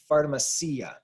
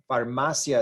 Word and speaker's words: farmacia: I and the a the I and the a blend together to form one syllable one sound this is yeah and farmacia farmacia is how you actually